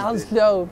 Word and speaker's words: coleslaw: ¿Cómo se pronuncia coleslaw? Así, excelente, como vos lo dijiste. Coleslaw.